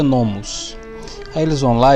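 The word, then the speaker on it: νόμος: E lá, na parte que está escrito lei, em grego vai estar essa palavrinha aqui, ó, essa daqui, que se pronuncia nomos.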